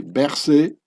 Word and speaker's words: Berset: The French pronunciation would be Berset.